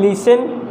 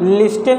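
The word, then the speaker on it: listen: लिसन, इसमें भी काफ़ी इम्पोर्टेंट है नोटिस करना, लिस्टन नहीं है, इट्स लिसन, इसमें टी लेटर साइलेंट है।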